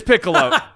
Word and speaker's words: Piccolo: Ball Super, Super Saiyan Gohan, and is it Piccolo? Okay, you were close. It is Piccolo.